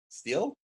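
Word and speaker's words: Stihl: Steel? I think it's steel. Steel chainsaws. You said still a second ago. I know, I said it wrong.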